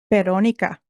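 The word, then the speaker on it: Verónica: Tonight's film is the 2017 Spanish supernatural horror film Veronica, or how do you say it, Stacy? Veronica. Oh, so much better.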